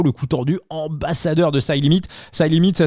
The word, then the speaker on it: CYLIMIT: Le coup tordu ambassadeur de Side Limit. Side Limit, ça s'écrit CYLIMIT.